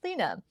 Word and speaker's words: Leana: And so I said this to the immigration official who wrote my name, Linda, as Leana, which we subsequently pronounced Lena.